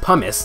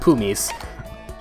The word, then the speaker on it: pumice: pronunciation of this appearance pronounced pumice not poo nice okay so we tried